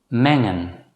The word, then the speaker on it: mengen: When the letter combination NG is followed immediately by a vowel, it should normally still be pronounced as n. In such cases, the letter G should not be pronounced as G.